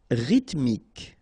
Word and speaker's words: rythmique: Rythmique. Remember, Y pronounced like I and then H doesn't exist.